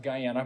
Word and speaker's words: Guyana: Uh born in uh Guyana. I was born in and it's actually pronounced Guyana.